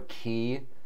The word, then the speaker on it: Χ: hearts kai back cover which kai is like the greek x that's lower than the normal line symbol uh let's also pronounce chi i guess or ki so it's really all over the spectrum here with the names uh we're choosing to pronounce it kai though because there's we're choosing to pronounce it as the alternate version of the greek symbol um i think also